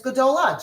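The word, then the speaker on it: גדולה: And for big in the feminine is gdola.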